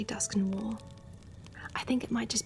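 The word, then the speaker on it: Dusknoir: Pronunciation is wrong in my opinion. I pronounce it like dusk no war.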